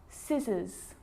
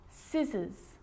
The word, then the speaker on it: scissors: quite tricky muscle muscle scissors fascinate scene scenario muscle scissors fascinate seem scenario so that's the silent sea so what about the